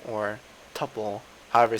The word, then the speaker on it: tuple: Also, one of the other kind of sequences I'm going to talk about very soon is called tuple or tuple, however you say it, but it's spelled T, oops, T-U-P-L-E, just like that.